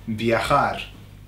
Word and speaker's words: viajar: So you can imagine I'm going to travel via car, viajar, okay? By way of car, viajar. Viajar is how you pronounce it. It's got that strong J, okay?